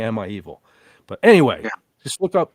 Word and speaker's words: Am I Evil?: No, it's actually it's actually Emma Hevil. It's it's spelled it's spelled weird, but it sounds like he's saying Emma Evil.